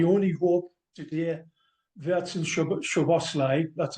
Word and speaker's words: Szoboszlai: I only hope today Verts and Szoboszlai, that's how you say it, John.